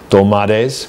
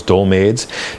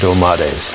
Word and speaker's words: dolmades: This week we're making dolmades, which I've been mispronouncing for years as dolmades.